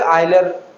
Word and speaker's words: Euler: लोग यूरोप के नाम से यूरोली यू पढ़ते हैं इसे, कुछ लोग, लेकिन because this is scientist name, तो कुछ लोग आइलर भी पढ़ते हैं, आइलर्स इक्वेशन या आइलेरियन अप्रोच। तो जो भी आप प्रोनाउंस करना चाहें दोनों ही चल रहे हैं।